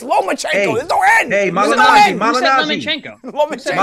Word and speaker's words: Lomachenko: be the ductor points he's not a lemon it's not lemon chenko it's lomachenko go in hey Mal